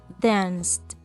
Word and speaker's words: danced: Muy bien, cuando tengo un sonido sordo, utilizo la letra T para pronunciar ed.